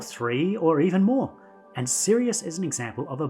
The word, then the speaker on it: Sirius: in the night sky that star is called Sirius and yes I'm being serious it's spelt with a